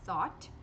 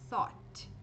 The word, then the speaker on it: thought: Então a gente tem thought. Também não é difícil. É como se fosse thought, só que com a língua um pouquinho presa.